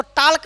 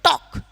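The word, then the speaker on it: talk: इसको टाल्क नहीं पढ़ेंगे, इसको पढ़ेंगे टॉक। क्या पढ़ेंगे, टॉक, क्योंकि यहाँ पर यल क्या है, साइलेंट हो गया।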